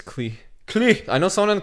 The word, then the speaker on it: Klich: It's not clique. How do you pronounce it again? It's Klee. Klich.